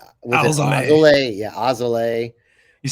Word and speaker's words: Alzolay: Yeah, Ozole.